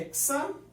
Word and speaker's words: hexa: 6 carbonos, o prefixo é hexa. Nos alcadienos, gente, sempre você vai ter a pronúncia do A, tá? Hexa. Tá bom? Porque você não pode botar ex perto da pronúncia do nome.